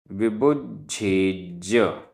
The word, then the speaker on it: विबुज्झेज: विबुज्झेज विबुज्झेज, आधा ज झ, आधा ज पूरा ज, विबुज्झेज।